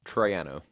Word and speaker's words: Troiano: you say your last name very good it's Triano that's what I was going to guess too